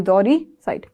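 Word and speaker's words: uxoricide: one wife जोरोक साइट यहां पर यू जो है ना वो साइलेंट है जोरोक साइड जोरोक साइड क्या बोलोगे जोरी जोरी साइड सॉरी जोरी साइट जरी साइट जोरी साइट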